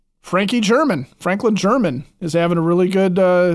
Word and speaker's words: German: and by the way it's it's Franklin German it's not Herman hey Frankie German okay so but he